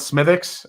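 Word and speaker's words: Smithwick's: too it it's uh it's spelled Smithwick but everyone just called it smithx and uh I think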